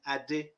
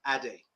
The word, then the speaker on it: Ade: last three months that i started to say my name adi instead of addie you know as i